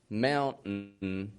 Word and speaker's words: mountain: In all those words, they're all 2-syllable words. The first syllable is strong in them. The vowel's pronounced fully. Whereas in the second syllable, it's just kind of an n sound. And the T, which you would think T's like it's a consonant and it's supposed to be pronounced, again, fully, we don't pronounce it.